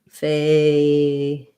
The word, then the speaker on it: fatal: So for fatal, you're going to have fatal. First syllable stress, A diphthong, and then your flap T plus your syllabic L, dull.